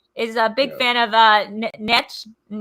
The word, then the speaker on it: Nietzsche: Nietzsche, Crowboy, is a big fan of Nietzsche. Nietzsche. It's not Nietzsche. It's spelled Nietzsche.